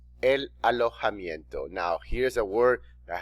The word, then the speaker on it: alojamiento: El alojamiento. Now, here's a word that has no connection with the English language. el alojamiento, The letter J sounds like the letter H in English.